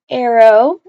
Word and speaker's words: Arro: doing a siren named arrow and yeah it's pronounced Arrow even though it's spelled like this we don't have a